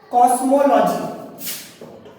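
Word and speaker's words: cosmology: এই প্রথম ওটার উচ্চারণ অকার হলো, দ্বিতীয় ওটার উচ্চারণ ওকার হলো কসমো লজি ল অকার বলছি, তাহলে এই অটার উচ্চারণ কিন্তু অকার হচ্ছে। তাহলে মাঝখানে যে ওটা এটার উচ্চারণ কিন্তু ওকার হচ্ছে, মো পুরো মো ম ওকার বলছি, কিন্তু এগুলো ক শুধু ক দিলেই হয়ে যাবে কসমোলজি।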